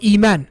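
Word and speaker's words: إيمان: Morphologically originally it was I'man. But because of the difficulty in saying I'man and A'dama and A'kulu and these sort of things, the Arabs, they never pronounced it that way. They pronounce it as Akulu, Iman, Adama, and so on and so forth.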